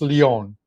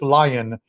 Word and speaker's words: Lyon: Listen, as far as the pronunciation of his name, if we were in France and we're talking soccer, it's Lyon. But we are in, he is in America, so it's Lion here.